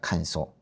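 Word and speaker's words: 乾燥: 그리고 거는이 발음이 거의 비슷한데 칸소입니다. 칸소.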